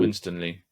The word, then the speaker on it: Winstanley: So I think people like Asa, how do you pronounce his last Asa name? Winstanley, yeah.